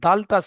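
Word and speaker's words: د: হয়, তেমনি ভাবে এই দালটা সেম ওর সঙ্গে সাদৃশ্য। জিহ্বার আগা সামনের উপরের দুটি দাঁতের গোড়ার সঙ্গে লাগিয়ে তা আর দাল উচ্চারিত হয়।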